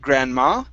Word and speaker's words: grandma: one here is Grandma the stress is at the very beginning instead of Grandma it's Grandma Grandma good all right nice